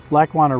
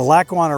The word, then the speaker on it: Lackawanna: lac one heritage river lake wanna river heritage trail i don't know how many times i've said that but i can never say it properly it's the lackawanna river heritage trail i'm 7 km along